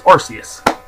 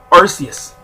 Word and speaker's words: Arceus: the name but there's technically three pronunciations for it in Pokemon doesn't even know which one they want to use so that's just how I'm saying it is Arceus it tries to be